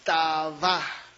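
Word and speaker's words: תַּאֲוָה: agradable en el hebreo es taba con doble a V chica y acento en la al final Qué significa fíjense deleite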